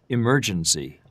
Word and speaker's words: emergency: And then the last word, emergency, which is the second syllable.